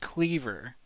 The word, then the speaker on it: Cleaver: Pronounced Cleaver like the implement cleaver.